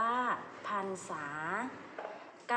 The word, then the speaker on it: พรรษา: นี้ ค่ะ ข้อ แรก เมื่อ ระหาร อยู่ หลัง พยัญชนะ และ ไม่ มี ตัว สะกด ให้ อ่าน ออก เสียง เป็น อัน นะ คะ อย่าง เช่น คำ ว่า พรรษา อ่าน ว่า พรรษา กาล ไกล อ่าน ว่า